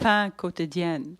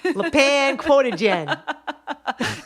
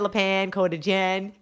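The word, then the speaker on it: Le Pain Quotidien: pain quotidien, Yeah, that place. not La Pan. La Pan Quotidien. Escargots. Yeah. So I was eating at La Pan Quotidien.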